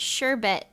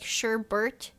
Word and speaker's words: sherbet: uh sherbet is pronounced sherbet but I always say it with an extra R like Sherbert that's yeah that's what